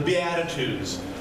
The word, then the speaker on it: beatitude: they're often called the Beatitudes and even though beatitude rhymes with Attitude it comes from a